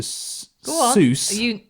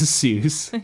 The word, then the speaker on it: Seuss: Seuss. Yeah. Dr. Zeus the Almighty. Yeah. And he says it's Dr. Seuss. Well, To rhyme with voice.